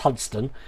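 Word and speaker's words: Hunstanton: all now we were going to go to hunt stanton tomorrow but although if you're in norfolk it's pronounced hudson um but apparently the weather's supposed to be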